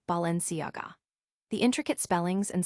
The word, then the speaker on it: Balenciaga: The common mistake is to pronounce the G as in go, but it's actually pronounced Balenciaga.